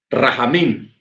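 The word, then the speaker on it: רחמים: Ojo, la palabra agua en hebreo se pronuncia majim. Y la palabra misericordia se dice rahamim.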